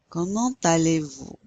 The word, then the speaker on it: comment allez-vous: Comment allez-vous? You pronounce that T because it's followed by the A.